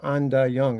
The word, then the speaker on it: Anda Young: And then the following year, I got a job at this place called Anda Young. It's spelled AIN.